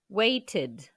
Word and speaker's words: waited: She waited. Pareil, le dernier son de la base du verbe est un T. Donc, on prononce ted. She waited. Cueillir.